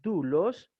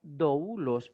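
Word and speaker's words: δοῦλος: Si la combinación Omicron Y se lee dulos, una transliteración fonética debe escribir más bien D, U, L, O, S, porque en griego no suena doulos, suena dulos, ¿ok?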